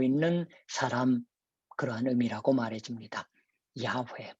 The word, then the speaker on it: 야훼: 야훼, 본래 발음이에요.